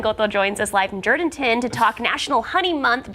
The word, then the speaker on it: Jourdanton: I'm in Jourdanton, Texas, or Jourdanton, that's how the locals say it.